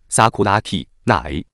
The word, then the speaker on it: 桜木なえ: 樱木奈惠的日文名字念作 Sakuraki Nae，生日未知，职业生